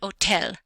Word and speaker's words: hotel: June July and Thursday the letter H is silent you don't hear it so we have Ola and hotel hotel not hotel hotel